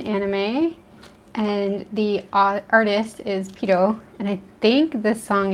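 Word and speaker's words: Pierrot: it, but the band Pito is actually one of my favorites. It's like, it's spelled P-I-E-R-R-O-T, but I kind of say it the way the Japanese fans say it. It's a French word though.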